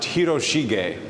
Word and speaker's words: Hiroshige: the Edo period named his last name is pronounced hiroshige and he's a master of the Japanese wood